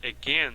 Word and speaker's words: again: novamente é pronunciada e a sua pronúncia forte está no Again Again aqui você tem a transcrição fonética again veja que o a foi reduzido a chua esse a que não